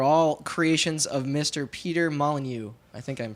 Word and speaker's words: Molyneux: Peter Molyneux. I think I'm pronouncing that right.